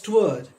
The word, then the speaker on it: toward: levick two word but at that time it was spoken as twourd which is a single syllable word turd so courage he